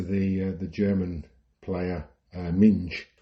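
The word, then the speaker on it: Minge: similar to the uh the German player Ming who's m i n g e everyone pronounces it ming but who the commentators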